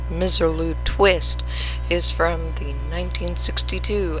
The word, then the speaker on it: Misirlou: the Black Sea coast the pronunciation by Pontic Greeks is misirlou the first known recording